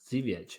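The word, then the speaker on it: Żywiec: be able to get, is the Zywick or Jywick, the Baltic Porter. Zviech. Zviech. Is that how you say pronounce it? Yeah, Zviech. I think that's how you pronounce it.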